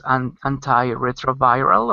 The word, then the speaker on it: antiretroviral: How do you pronounce antiretroviral, or how do you say it?